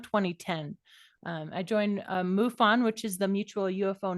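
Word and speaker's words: MUFON: that is admirable um so so muon if I'm saying it correctly can you tell us a little bit about that as you fo in it I know right it is muon it is the mutual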